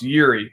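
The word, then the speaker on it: Jiří: then you got this i believe it's it's pronounced yuri it's j-i-r-i um he comes in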